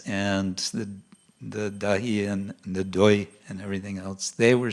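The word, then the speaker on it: দই: So it was a time for dahi, or dahi. How do you say in Bengali? Dahi. Dahi. Dahi? Doi, yes.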